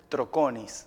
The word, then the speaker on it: Troconiz: acá con ustedes pedro el apellido mi apellido troconis troconis a pedro con don desde ese apellido